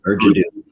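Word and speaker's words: Ur Jaddou: Is that how you pronounce it? Yeah, Urjado.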